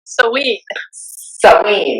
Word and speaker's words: Samhain: We were talking about, Samhain, Samhain, which right. looks like Sam Hain.